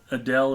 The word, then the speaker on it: Adele: Ed said that uh Adele is pronounced just like the singer's name it's Adele vorn antler says I